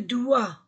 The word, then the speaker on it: doigt: coude le genou le doigt je ne prononce pas g je ne prononce pas t le chien le cou